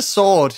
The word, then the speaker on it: sword: that's such a hard word to say the sword you just pronounce the w which which is silent which